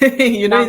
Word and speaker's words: Nankwat: Nankwat, it's Nankwat. actually a tribal name, so you can't pronounce it the way we actually do, but you're doing perfectly well.